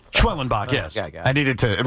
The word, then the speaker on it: Schwellenbach: Schwelenbach.